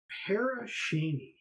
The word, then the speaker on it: Pere Cheney: This episode is about the ghost town of Paracheny as it's pronounced. Uh, it's a former settlement located in the heart of Crawford County, but I'm going to call it Pear Cheney in in honor of the recently deceased and